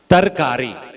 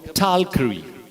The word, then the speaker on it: tarkari: can't hear you wrong the correct word is Turkey listen very t-a-r tarkari correct pronunciation that is distorted and if you live in central or North it becomes tall Curry and if you live further north west Moorings to carry see we have lost the pronunciation one so if you